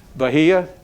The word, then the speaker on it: Bahia: or Bahia Brazil does anybody know how to pronounce it bahah thank you thank you okay so the unfailing